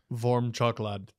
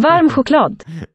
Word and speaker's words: varm choklad: Varm choklad.